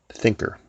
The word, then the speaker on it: Thinkr: There's a newsletter that I subscribe to called Thinker. It's a free newsletter, and it's spelled Thinkr.